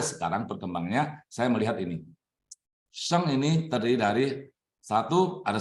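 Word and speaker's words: 生: Tetapi ketika hidup itu ada salib, nah ini huruf ini bacanya sheng, artinya lahir dan artinya hidup.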